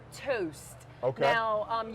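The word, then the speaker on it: Töst: gonna have is called toast okay now um you pronounce it toust like as if you're scandinavia and that's what i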